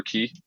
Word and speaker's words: Quay: before for some of the quay stuff or key however you want to pronounce it uh but had uh